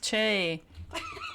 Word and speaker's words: Choi: It's pronounced Che.